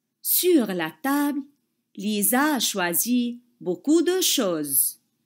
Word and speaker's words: Lisa: Et vous savez très bien que la lettre S a peur des voyelles et elle zozote entre deux voyelles.